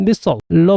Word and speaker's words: missile: 그리고 이 단어를 우리는 당연히 미사일로 발음하는데요. 이건 영국 쪽 발음에 가깝고요. 미국에서는 missile로 발음합니다. 이런 발음 차이는 바로 spell I를 어떻게 발음할 거냐 하는 건데요.